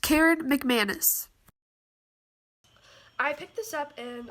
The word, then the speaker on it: Karen McManus: anyways but one of us is learned by Karen McAdams future Sophia here and it's actually pronounced Karen McManus I picked this up and I got like